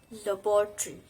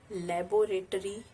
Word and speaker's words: laboratory: Laboratory. It's not laboratory, it's laboratory. So the next word is basically.